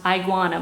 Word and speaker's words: iguana: middle color here is iguana love you I was just I was just stopping to think about that that name it's not pronounced I Guana but it would seem